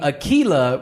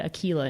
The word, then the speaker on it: Aquila: and so they thought, okay, Aquila is a little more of a feminine pronunciation, but they wanted something different. I'm pretty sure that's the first person to ever be named Aquila in Indiana.